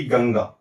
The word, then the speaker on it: गंगा: जैसे कि गंगा गंगा का उच्चारण कैसे होना चाहिए? तो यहां पर ध्यान दीजिएगा। यहां पर संयोग वश अनुस्वार के पहले भी ग है, अनुस्वार के बाद भी ग है।